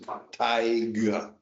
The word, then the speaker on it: Tighe: This is Tyga, because it's Tighe. And he would insist on pronouncing the G. The guy was 50, but he says he's done it his whole life. He's got to make sure everybody hears the G in Thai.